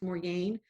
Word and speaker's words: Morgan: In the book, it's spelled Morgan, but it can be pronounced Morgane.